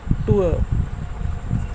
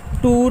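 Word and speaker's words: tour: र silent है यहाँ पर, आर, पुअर। यहाँ पे आर नहीं है, पुअर, टूअर। टूर नहीं बोलना, इसे पूर नहीं बोलते हैं। तो यहाँ हमें क्लियर होता है कि ये अक्सर हम इस वर्ड को बोलते हैं हम टूर पे जा रहे हैं, टूर नहीं है, टूअर, पुअर, टूअर। आर बिल्कुल साइलेंट हो जाता है और ये सिंबल यूज़ होगा।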